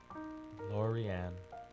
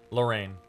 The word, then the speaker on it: Lorraine: sound of her voice Laurieann or Lorraine not Laurieann I'm stupid sorry Lorraine lovely Amanda Lorraine does